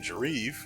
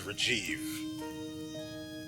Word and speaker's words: Rajiv: I called him Jareev. Or Jarev? Yeah, Jarev or... Regardless, it was Rajiv.